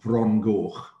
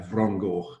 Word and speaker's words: Fron Goch: name, which is called Fron Goch, which you can see on the bottom of the slide there, Fron Goch. It's spelled with an F, but an F in our language is a V sound.